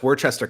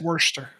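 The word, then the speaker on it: Worcester: speak to that I I believe that's Worchester County right or is am I am I wrong about it's Worster okay um unpronounced able like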